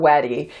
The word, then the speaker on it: Wedi: is we D or weddy it is pronounced weddy by the company but a lot of